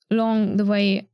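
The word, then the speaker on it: 龍: I find it interesting that the book writes long the same way Tai Long's name is written with a U, despite the pinyin and the pronunciation using an O. So it's written Lung but pronounced Long.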